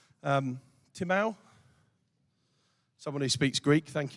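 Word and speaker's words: τιμή: now there's a Greek word that actually is time or Timo but it's pronounced Tim e um timau someone who speaks Greek thank you for that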